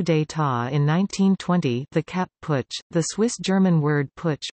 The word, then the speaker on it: Putsch: Since an unsuccessful coup d'état in 1920, the Kapp Putsch, the Swiss-German word Putsch, pronounced PT, coined for the Zurich Putsch of